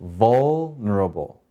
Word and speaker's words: vulnerable: by doing that so in this word v has the accent the first syllable so how do we say this word v vulnerable again vulnerable so let's go ahead and